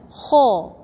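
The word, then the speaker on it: خ: Yeah, I pronounce it strong, but I say ha, ha. No, ho, ho.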